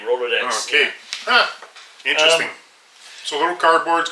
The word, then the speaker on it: Rolodex: Well, so let's I don't I my brain is I'm going through a roller deck. You know what a rolod deck is and we talk about this. Rolodex cuz there's multiple.